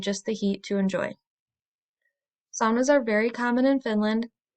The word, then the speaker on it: sauna: you a bit about saunas I'm going to be using the finished pronunciation which is sauna in American culture it sounds a bit more like sauna saunas were first invented